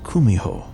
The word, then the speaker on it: kumiho: to achieve in mortality in Japanese you've probably heard of it as kitsun though in Korean it's pronounced kumiho what I was sent